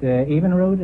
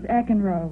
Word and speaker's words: Eckenroad: Evenrood, is that the way you pronounce it? No, it's Eckenroad.